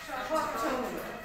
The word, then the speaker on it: স্বচ্ছ: যুক্তবর্ণ চ ছ এখানে যুক্তবর্ণটা কি চলে স্বচ্ছ বানানটা হচ্ছে দন্তস গ ফলা চ ছ সংযুক্ত কি হলো স্বচ্ছ হলো আচ্ছা স্বচ্ছ মানে কি বলছি আমরা আচ্ছা স্বচ্ছর